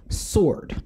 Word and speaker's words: sword: a public service announcement it is pronounced sword the w is silent i don't know who